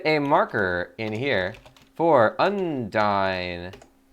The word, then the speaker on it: Undine: Let's get a marker in here for Undyne, or Undine, as they pronounce it in this game.